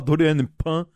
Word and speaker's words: Doriane Pin: É Doriane Pin, né? O nome dela? Sim, tem gente que fala Dorian Pan, mas eu não sei se a pronúncia correta é assim.